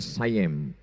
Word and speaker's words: Siam: Tulisannya Siam. Orang Barat membacanya sayem.